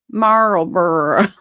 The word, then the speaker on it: Marlboro: Say Carl B. Carlboro and then make the C sound. Carl Burrow. Marlboro.